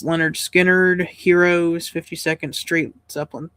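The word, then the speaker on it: Lynyrd Skynyrd: Stripes, Station to Station, David Bowie, Chicago, self-titled, pronounced Leonard Skinner, Heroes, 52nd Street, Zeppelin 3, Jazz, Glass Houses, Born in the USA, Ghost in the Machine, The Works.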